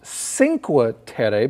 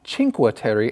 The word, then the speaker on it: Cinque Terre: we continue our article we find out what cinque terry means and what does it mean gabe yeah the five lands in fact when i saw the title i thought it was pronounced cinqua tere because when i was learning spanish that ci